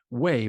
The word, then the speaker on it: Weigh: no way and when I say way that's pronounced way but it's spelled Wei G Val I want